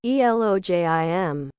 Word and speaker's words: Elohim: The H is pronounced like J, so the exact pronunciation is Elojim. If the word Elohim is pluralized, then Elohim are the army of the voice, composed of perfect male-female creatures.